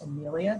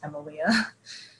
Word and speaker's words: Emilia: It looks like it's pronounced Amelia, but it's actually pronounced Emilia.